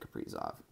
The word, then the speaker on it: Kaprizov: Kaprizov, that's how you say it, Kaprizov, like Capri Sun.